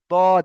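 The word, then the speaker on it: ض: সাত নম্বর মাখরাজটা হচ্ছে দদ এটা আমরা উচ্চারণ করতে গিয়ে সঠিকভাবে উচ্চারণ করতে পারি না কেউ জদ বলে দি কেউ দদ বলে দি এটা কিন্তু আসল উচ্চারণ হয় জদ আর দদের মাঝখান থেকে মানে আওয়াজটা এমনভাবে বের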